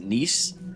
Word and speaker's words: gneiss: Is it gneiss? Is it G silent? Yeah, yes. Is there any other kind of rock other than gneiss rock as far as just rock? Just gneiss, limestone, flint, and then granite.